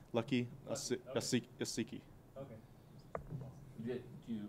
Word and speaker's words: Uasike: And now we'll not mispronounce his name from now on. Yeah, it's Lucky Okay. Asiki.